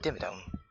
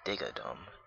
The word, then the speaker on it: Dimmadome: Doug Dimmadome, owner of Dimsdale Doug Dimmadome. Oh man. Oh, you mean Doug Dimmadome, not Digadome.